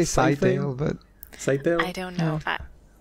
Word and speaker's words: Scytale: Skitail? Well, I say Scytale, but... Scytale? I don't know. Okay, Scytale, Skitail. I'm sure there's pronunciation guides. I always imagined it's like a scythe. It's gonna cut you up.